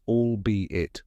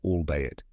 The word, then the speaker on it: albeit: the correct pronunciation is allbe it or allbe it let's break it down step by step first all like all but with a soft l sound then B which sounds like buzzing insect B and finally it just